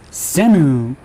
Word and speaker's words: Shem: We'll be calling him Shem, Shemu, or Shame. And yep, I prefer to call him Shame because of what he did to Mama Tiana.